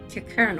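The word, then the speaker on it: Qiqirn: Kikern. Oh, I've been pronouncing that wrong.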